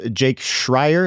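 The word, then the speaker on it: Schreier: I just Jake Shrier.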